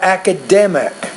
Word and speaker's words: academic: English because I'm not say the word academic so put stress on the third syllable make it clearer louder longer and also higher pitched the native speaker I'm